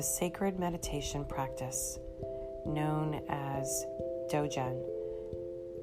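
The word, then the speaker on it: Dzogchen: meditation practice known as dojon d z o g c h e n d z o g c h n so i believe i pronounced it right i'm pretty positive that's dojon when accomplished dojin masters die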